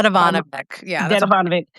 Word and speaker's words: Dedivanovic: fell for the Mario, is it Devodik? How do you pronounce his name? By Dedivanovic.